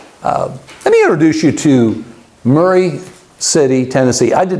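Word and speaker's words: Maury City: what it will say is it will say Murray City Tennessee parentheses pronounced by the locals Murray City phonetically spelled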